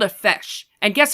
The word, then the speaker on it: feis: It's called a feis. And guess how it's spelled?